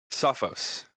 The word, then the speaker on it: Sophos: Is it Sophos or Sophos? Sophos is the correct. That's the correct pronunciation.